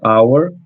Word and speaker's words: hour: O H aqui ele não vai ser pronunciado.